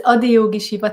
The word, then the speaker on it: Adiyogi Shiva: I'm sure I'm not going to say it exactly right, but is it Adiyogi Shiva? Yes, exactly. You said it right. So it's Adiyogi Shiva Techniques.